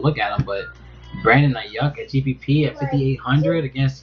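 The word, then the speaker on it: Aiyuk: not sure who said it, but it was Ayuk. I think that's how you pronounce his name. He's 5,800. Let me see if I can find him. I can't find him. Ayuk. That's how I pronounce it. Ayuk.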